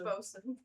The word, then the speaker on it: boatswain: Boatswain. The boatswain. Boatswain. As it's opposed to pronounced the- bosun.